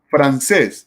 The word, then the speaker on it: francés: Entonces tenemos francés, lleva el acento en la última sílaba y lleva tilde porque la palabra francés termina en S.